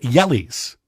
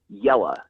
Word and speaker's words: Jelle: But yes, it is Jelle, just like yellow but with an on the end. Jelles.